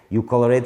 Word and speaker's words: ColorADD: ColorADD describes a concept of addition. Phonetically, is sounds like "coloring".